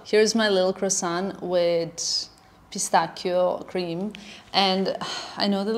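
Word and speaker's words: pistacchio: the thing is like the correct pronunciation in Italian is pistachio, so it's a very much of a thing.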